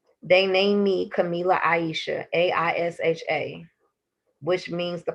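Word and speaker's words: Kamilah: sunshine is not my real name um it's camila k-a-m-i-l-a-h let me say it again it is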